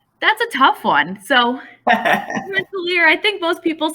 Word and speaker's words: Rensselaer: How do you pronounce Rensselaer? That's a tough one. So Rensselaer, I think most people say Rensselaer.